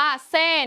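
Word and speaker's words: 死: เลข 4 เนื่อง จาก การ ออก เสียง เลข 4 ใน ภาษา กวาง ตุ้ง และ ภาษา จีน มี เสียง คล้าย กับ คำ ว่า ตาย ซึ่ง ออก เสียง ว่า เซ่ ใน กวาง ตุ้ง และ ซื่อ ใน ภาษา จีน กลาง จึง ถูก มอง ว่า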